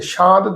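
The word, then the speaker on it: ਸਾਂਤਿ: प्रभ सात न कई शांत भी प्रोनाउंस करते शांत अर्थ शांति ताप गए पाई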